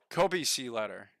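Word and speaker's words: Kobeissi Letter: I looked up the pronunciation. Kobe letter. The Kobe letter. There we go. The Kobe letter. That sounds much better, right?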